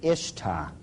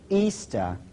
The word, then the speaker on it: Ishtar: A lot of people thought it was Ishtar. But if you check the original transliteration, the Babylonian one, it is still pronounced Easter to this very day.